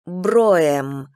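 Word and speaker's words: Brougham: он задумчиво замолчал кстати меня зовут им бро им произносится бро им они бро им не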